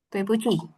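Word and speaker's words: 对不起: Tuepuchi. Jadi Tuepuchi yang di ini ada berapa? Itu Nada nada 4. turun 4. Nada 4. Terus yang di I paling terakhir nada? Ada 3. Nada 3.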